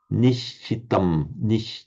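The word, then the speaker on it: निश्चित: So how would you pronounce it in pure Sinhala if you were speaking pure Sinhala?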